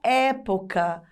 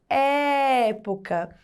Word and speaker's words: época: Observem a palavra época. Quando nós pronunciamos e poca, e, o som ele fica mais forte, ele fica agudo, é um som aberto, época.